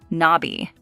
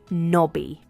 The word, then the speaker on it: Nobby: It's knob-y, Nobby. It's a two-syllable word, and the stress is on the first syllable, knob, Nobby. Nobby.